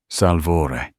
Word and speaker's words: Salvatore: Salvore. He pronounced it the Italian way. Musical almost.